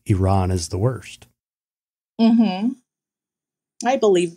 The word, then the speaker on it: Iran: sticker that said hey iran and i say it that way because that's how they say it in indiana um hey i